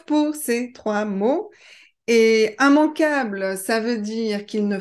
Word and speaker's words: immanquable: Seulement dans la catégorie IM, vous avez immanquable, immangeable et immétable. Alors normalement, quand on a IMM, I2M, on doit prononcer IM, sauf pour ces trois mots. Et immanquable, ça veut dire qu'il ne faut pas manquer.